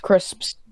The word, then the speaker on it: crisps: It's like, crisps. yeah. You just gotta always remember to pronounce the P, because some people go crisps.